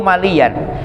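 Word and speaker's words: مليًّا: Qaulu maliyan bitasydidil ya, bacanya maliya.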